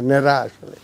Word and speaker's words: নেড়া: সিলেটি যে নন সিলেটিরা নেড়া বলতে পারে না, বলে নেড়া, তারা আবার র উচ্চারণ করে, এটা ঠিক না, নেড়া আসলে।